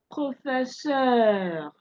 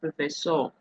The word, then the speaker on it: professeur: Now it is not, please take note that it is not professor. It is in English that you say professor, isn't it? But in French it is what? Professeur, professeur, beurre, beurre, heure, heure, heure.